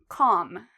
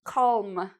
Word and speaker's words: calm: Well, we don't pronounce L after A, O, or U.